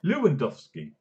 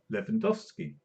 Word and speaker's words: Lewandowski: can't pronounce it properly how did the Americans pronounce it Lewandowski Luud there Mikey Lewandowski how you pronounce it Levin dusky great it's like there